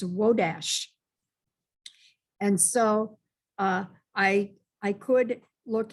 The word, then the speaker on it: Wodars: Wodars, I was aware that it could have an associated differentiation of the name like Wodash, because that's the actual pronunciation of Wodars in Silesia. It's Wodash.